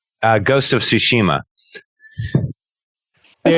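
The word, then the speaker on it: Tsushima: Ghost of Ssushima. That's how you pronounce it.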